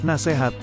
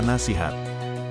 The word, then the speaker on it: nasihat: yang benar adalah sekadar yang terakhir nasehat seharusnya yang benar adalah nasihat dan masih banyak kata